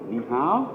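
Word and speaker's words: 你好: Ni hao? Yeah, ni hao means hello. Hello, ni hao.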